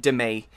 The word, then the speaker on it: Demi: No, apparently she pronounces it Demi. But in England, most of us, I think we just say demi. And because that's like the word, like a demi-glaze.